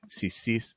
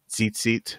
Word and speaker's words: tzitzit: Sisith, some people spell and pronounce tzitzit or tzitzis. We use an Eastern pronunciation of each corner of